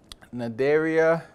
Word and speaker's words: Cnidaria: We've got Porifera, Cnidaria, the sea is silent, Tinophora, Platyhelminthes, Nemerthia, Rotifera, Nematoda, Mollusca, Annelida, Arthropoda, Echinodermata, and Chordata.